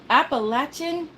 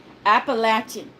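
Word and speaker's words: Appalachian: I keep saying that appalachin not being mean but we always have to tell everyone it's pronounced like lat yes uh uh um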